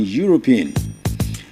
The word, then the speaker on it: Europe: I've heard this word many a times being mispronounced that's why I'm choosing this word and the word is e u r o p e that word is Europe right Europe so someone from Europe is called